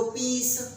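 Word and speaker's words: peace: आगे देखो, फॉर पीस सेक, मैंने कहा था ना सी से भी स की आवाज़ आती है, तो CE, और किसी भी वर्ड के एंड में अगर ई लिखा है तो उसका प्रोनाउंसिएशन होता ही नहीं है, तो प्रोनाउंसिएशन किसका रह जाता है, सिर्फ सी का। तो पीस, स की आवाज़ आ रही है, हिसिंग साउंड आ रहा है, सिर्फ कॉमा लगना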